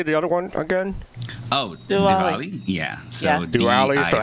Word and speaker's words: Diwali: Wait, so how do you pronounce that holiday? The other one again? Oh, Diwali.